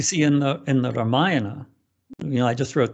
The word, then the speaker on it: Ramayana: in the in the ramayana you know i just wrote this book the hanuman story for ramdas which is from the ramayana ramiana in the ramayana that's how people pronounce it in the ramayana it's